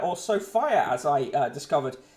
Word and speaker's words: Sophia: Top, in the promotion box at the top, we've got fertility on ice as Sophia, or Sophia, as I discovered it's pronounced when she was featured on the radio the other day.